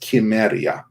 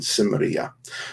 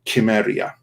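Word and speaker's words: Cimmeria: correct pronunciation of samaria is chemeria it always was so it's just like a fluke of the english language but we kind of say it incorrectly in samaria but conan himself would have said that i'm conan from uh from chimeria and not sonan from samaria and um just a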